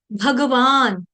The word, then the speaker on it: भगवान: हम रोज बोलते हैं भगवान भगवान नहीं बोलना है भगवान ग पूरा हिंदी में चल जाता है भगवान भगवान भगवान वहां पे ग आपका उच्चारण आधा कर रही हूं मैं हिंदी में चल जाएगा अर्जुन न हलंत आ रहा है हिंदी में चल जाएगा संस्कृत में नहीं चलता संस्कृत में जो वर्ण